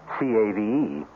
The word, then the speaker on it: cave: For myself, I equate cave with the Latin word spelled the same way, C-A-V-E, but pronounced cave. It means beware.